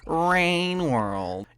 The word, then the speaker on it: Rain World: Painworld is actually a typo, and you got clickbaited. It's pronounced rainworld.